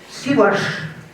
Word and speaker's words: Сиваш: Не сомневайтесь, ударение правильное. Сиваш в словаре так указано.